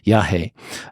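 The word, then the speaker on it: yajé: um is called yah which is spelled y a j e with an accent over the e yahi um and and a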